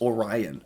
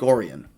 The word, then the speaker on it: Orion: I know people are going to immediately say, that's Orion. It's just like the Orion's belt. Not in Michigan. They pronounce it Lake Orion, Michigan, holding signs to